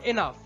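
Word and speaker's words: enough: তারপর এনাফ, এখানে ওইউজিএইচ pattern follow হয়েছে এবং জিএইচ শেষে আছে তাই ফ উচ্চারণ হয়েছে।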